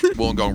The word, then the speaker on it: Wollongong: in new south wales wollongong rhymes with one of the major utensils they used to have fun back in the day uh down there